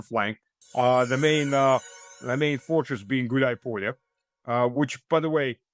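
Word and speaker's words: Гуляйполе: The main fortress being Gulay Polya, which, by the way, it's two words combined to one, Gulay and Polya.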